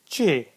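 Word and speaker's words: چ: And then we have got letter just like Jim but with 3 dots in it, and it is called che.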